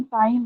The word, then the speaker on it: chyme: In ma'am the काइम stomach, होता है, हाँ, प्रोनाउंसिएशन काइम है। चाइम नहीं है, काइम है प्रोनाउंसिएशन।